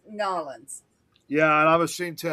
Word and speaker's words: New Orleans: Nolans. Them Nolans. people get downright vicious when you mispronounce their town. Yeah, I'm ashamed to New admit I said, Orleans or New Orleans. It's Nolans.